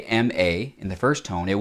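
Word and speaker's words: mā: This character right here is pronounced ma. Now, there are a lot of characters that could be pronounced ma, but this one means mother.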